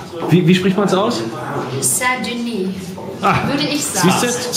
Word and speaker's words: Saint-Denis: Saint-Denis. Und zwar Saint wie ein schönes deutsches und Denis wie ein Ö wie Döner oder eine Mischung aus Ü und E, habe ich gesagt.